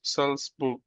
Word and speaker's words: Salzburg: হ্যাঁ, এটা উচ্চারণ কি হবে ভাই? সালসবুর্গ।